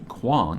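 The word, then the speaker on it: Kuang: poppy war by RF Quan and it is pronounced Quan on her website I was like I hope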